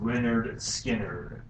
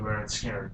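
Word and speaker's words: Lynyrd Skynyrd: by Leonard skin from pronounced Leonard skard obviously Leonard skard great St rock band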